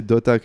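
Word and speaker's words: .hack: alors sachez que dotac il faut le prononcer dotac mais ça s'écrit point ha comme à l'anglaise et sign qui est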